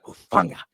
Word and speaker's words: Hufanga: which is Cameron Bynum, who's only 26, and Hufanga. That's how you say it, right? Hufanga. Yeah, you got it. Hufanga.